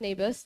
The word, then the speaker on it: Naboth: Okay, so this is the very famous story of, I believe it's pronounced Naboth. That's what Google says.